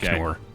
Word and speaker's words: cKnoor: It's just random letters, but I've decided that it's pronounced cKnoor.